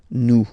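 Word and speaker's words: nous: O N S for new okay new par okay remember final S is not pronounced okay and then this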